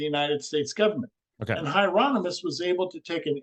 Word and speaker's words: Hieronymus: think Hieronymus is that how you say it Hieronymus yes so he jumps in later in life